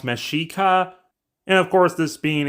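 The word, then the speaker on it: Mexica: after the mexa people which should technically be pronounced mesika and of course this being a civilization before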